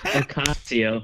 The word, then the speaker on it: Ocasio-Cortez: Did you Bernie call her Sanders has multiple Alscaria? houses. Did you just call her Alscaria? Was it Oscalia Cortez? Alexander. Pronounce that? Ocasio, right? My bad. It's Alexandria Ocasio-Cortez, or as Crowder would say, Alexandria Sina.